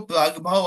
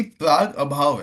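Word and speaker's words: प्रागभाव: अभाव प्राग अभाव हां जब आप साथ में पढ़ोगे तो प्राग भाव आता है वह बोलने के लिए प्रोनाउंसिएशन में प्राग भाव आता है बट वो बेसिकली प्राग अभाव है।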